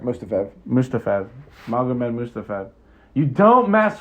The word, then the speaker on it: Mustafaev: Like another disclaimer since we're talking about Magomed Mustafov. Isn't that how you say it? Yeah, Mustafaev.